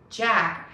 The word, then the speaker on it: Jack: teeth with your tongue jack has a j touch your teeth to start that sound zap jack zack jack